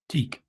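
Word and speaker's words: TEAC: Is it pronounced Tiak or Teak? Teak.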